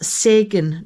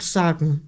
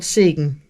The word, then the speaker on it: Sägen: So for you who can't pronounce it, it's actually an E, which is a special letter we have in the Scandinavian alphabets. So it's pronounced Sägen, not Sagen, but Sägen.